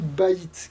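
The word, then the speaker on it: בית: Alors, Bet, Yud, Tav, ça fait Bet, mais ça se lit aussi Baït, qui veut dire la maison.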